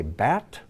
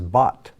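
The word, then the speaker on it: בת: end if you say bat that's incorrect there's no ah sound in hebrew this is bot like i bought this hebrew book on amazon here's an r with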